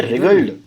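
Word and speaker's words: writhed: डब्ल्यू जो है silent है। है ना? क्या बोलेंगे? रिग्ड।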